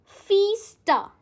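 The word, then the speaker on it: fiesta: हाउ डू you pronounce? We pronounce it ऐज़ फीस्टा। ऐसे break कर लो।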